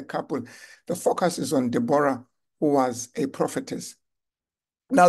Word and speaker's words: Deborah: story of debor debor I know others call the pronounced the name as Deborah uh but I think the name is more like debor Deborah uh according to